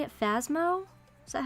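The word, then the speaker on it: Phasmophobia: going to play how do you say it phasmo is that how you say it yeah phasmaphobia yeah phobia i've never played it and i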